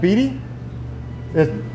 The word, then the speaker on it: Beatty: rail light i'm in uh beatty as it pronounced beatty town a.t i'm in beatty nevada we just